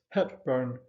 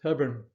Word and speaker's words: Hepburn: Now, I know that the Hollywood fans amongst you would pronounce this Hepburn, but the correct pronunciation for the first family is Hebburn.